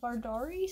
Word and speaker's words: Vardari: Year this is the first book in her vardari series and that's how it's pronounced v-a-r-d-a-r-i um yeah it takes place in